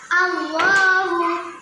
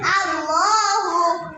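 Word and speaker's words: الله: আলিফ লামের আল লামের আলিফ আর পেশ আল্লাহ টানটা আরো বেশি হবে।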